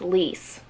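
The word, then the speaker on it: lys: I have a device pronounce l Le lease it's lease got it okay lease l y s and then base notes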